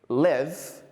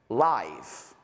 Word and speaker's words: live: However, sometimes the words can have completely different pronunciations. For example, I live in Barcelona, but I enjoy live music. Live, live.